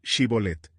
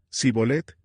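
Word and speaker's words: Shibboleth: Si él contestaba, "No, ellos decían, muy bien, di Shibolet." Si decía Sibolet, porque no podía pronunciar la palabra correctamente, lo agarraban y allí mismo, en el cruce del Jordán, lo degollaban.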